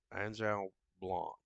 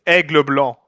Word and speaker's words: Aigle Blanc: Angel Blanc, I think is how the name's pronounced. You want me Zygon, to say it? yes, please. I do speak French. It's Aigle Blanc.